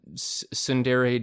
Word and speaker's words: tsundere: Like, oh, the bossy one's a tsundere.